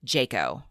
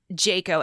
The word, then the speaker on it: Jaco: care luke jayco and i don't know if i'm saying his last name correctly it's j-a-c-o i suppose it could be jack-o i'm not sure how it's pronounced in the area i'm going to call him jayco luke jaco's life was